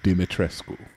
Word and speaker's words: Dimitrescu: And there was a bunch of Austrian people in the comments saying, thank you, I'm really tired of seeing Americans mispronounce this name. Lady Dimitrescu.